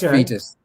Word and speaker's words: Foetus: your first single right R FM it's it's pronounced fetus yeah fetus okay that's the it's the the